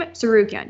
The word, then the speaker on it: Tsarukyan: We have lightweight Arman Tsarukyan via, did I say his name? Tsarukyan, yes, versus Christos Giagos via BetOnline.